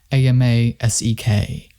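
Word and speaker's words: Amoskeag: The tribe's way of saying it is Amasek, but the proprietors spell it Amosec.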